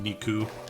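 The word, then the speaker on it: 肉: There's the basic meat, which heals 29, because it's a pun on the Japanese word for meat, Niku. The numbers 2 and 9 are pronounced the same way.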